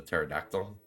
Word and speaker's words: pterodactyl: I liked Petrie, the pterodactyl.